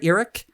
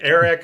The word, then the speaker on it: Earic: No, most people just say Eric or or they fumble over it, but it's eerie.